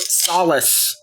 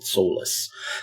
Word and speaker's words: Solis: first playthrough of Fort solace and it is pronounced Solace apparently not Solas last time we played